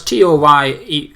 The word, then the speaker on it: Toney: So, well, you probably pronounce it Tony. Well, it's Toney.